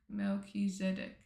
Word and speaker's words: Melchizedek: Melchiz Melchizedek. Melchizedek.